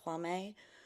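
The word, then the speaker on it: Jaume: I J A U M E I think is Hame.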